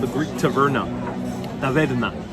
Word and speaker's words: taverna: called the Greek taverna, taverna. If you want to pronounce it a little bit more Greek. And tavern, taverna, it's a word used in many other languages.